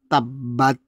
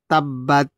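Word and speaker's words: تَبَّتْ: এখানে কিন্তু অনেকে বলে তাব্বাত, মানে এখানে দালের উচ্চারণ দেয়, অর্থাৎ হাঁটু ভাঙ্গার দোয়ার উচ্চারণ দেয়, কিন্তু এখানে হাঁটু ভাঙ্গার দোয়ার উচ্চারণ হবে না, এখানে হবে তায়ের উচ্চারণ, ত। তাব্বাত তাব্বাত ইয়াদা আবি লাহাবি ওয়া তাব।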